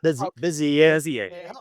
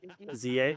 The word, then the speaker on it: Bezier: Bezier. It helps to say if your pinky's up. Bezier.